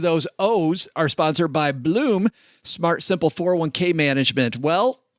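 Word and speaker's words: Blooom: With Bloom, I don't say it right. Say it, Len. Bloom.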